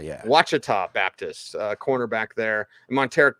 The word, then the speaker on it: Ouachita: How do you pronounce that? Ouachita, yeah. Ouachita Baptist, cornerback there.